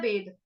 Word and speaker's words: वेद: वेद, अब वेद, हिंदी में हम कैसे बोलते हैं, वेद, उसने वेद पढ़े हैं, लेकिन संस्कृत में हम कैसे बोलेंगे, वेद। क्यों? क्योंकि संस्कृत में एक एक शब्द को पूरा बोला जाता है, जो पूरा होता है